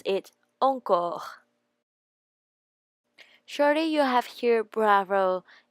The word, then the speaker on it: encore: Actually, it's a word from French, and it means more, and we pronounce it encore.